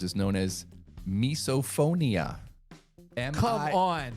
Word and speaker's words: misophonia: The fear of chewing sounds is known as misophonia. Come on. It's very close. I know. Misophonia, like misophobia. Phone, like audio, like hearing. God dang it. MISO. So it's spelled slightly differently, but misophonia.